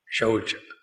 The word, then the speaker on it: शौच: देखो, स्वच्छ भारत, शौच, वो श है, स नहीं है।